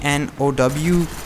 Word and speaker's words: know: same way R E A but it's actually pronounced Ria you know like no how do you k n o w can now what the hell English is the